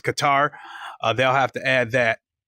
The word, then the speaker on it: Qatar: add Qatar or I I've pronounced it quar but it's Qatar they'll have to add